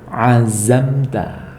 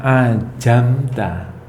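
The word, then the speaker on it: عزمت: Semisal kata azamta. Terlihat zai, azamta. Nah, kalau kita membacanya ajamta. Nah, sudah terdengar sangat berbeda, apalagi artinya.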